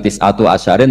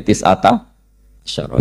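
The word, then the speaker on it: تِسْعَةَ عَشَرَ: tisata Asaro utawi solongol tetap bacanya bukan tisatu asyarin tapi tisata Asaro jadi kita tahu secara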